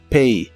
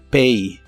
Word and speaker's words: pay: y usaremos el verbo Pay que significa pagar la a se pronuncia como e pay pay y usaremos el